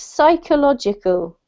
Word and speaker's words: psychological: So you do not pronounce the P, it's psychological.